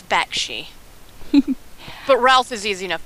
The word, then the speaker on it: Bakshi: mispronouncing uh famous names i said bashki and i think it's bakshi but ralph is easy